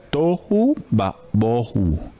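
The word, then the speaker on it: tohu va-bohu: bohu ba boju Perdón tohu ba bohu Yo sé que es como chistoso pronunciarlo estas dos palabras que riman deben ir siempre juntas tohu y bohu esas son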